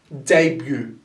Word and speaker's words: debut: try to spell the d e as day so d e day day and the b u t is followed as b so then now you can add them together debut debut debut could be a noun